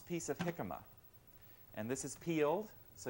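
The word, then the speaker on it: jicama: disc and take an 8 O piece of hikma and this is peeled so you want to have the peeled weight and hikma is spelled j i c m a if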